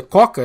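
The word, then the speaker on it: Quokka: seu que é o eu acho que você pronuncia coca é isso coca cms é o Coca cms Pois é que usa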